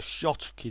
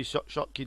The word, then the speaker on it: Schottky: This is what's called a Schottky Diode. It's spelt a bit strange. It's a German scientist's name, Schottky, who invented this type of diode. The Shotkey Diode, the symbol looks like this.